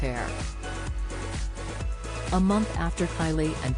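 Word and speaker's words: Aire: boy's name from Wolf to Air, pronounced Air.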